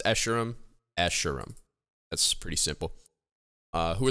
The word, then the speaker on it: Escharum: How do you pronounce Escharum? Escharum.